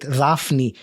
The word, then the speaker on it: Daphne: And uh I am uh pronouncing your name in a probably a way that you're not much used to it. But as I told you because it is a Greek name and I would call it Rafnnei if if it was Greek.